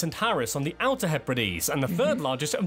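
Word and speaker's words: Hebrides: Shetland ory and the Hees the Hees are also further split into inner and outer Hees that's number 45 I didn't know that's how you pronounce that word you don't want to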